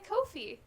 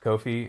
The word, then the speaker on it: Ko-fi: And a Kofi. More to come. You know, they officially said that they're pronounced Kofi, and that's just wrong. Wow. Instead of Ko-Fi? Yeah, Yeah. like, or coffee. Coffee.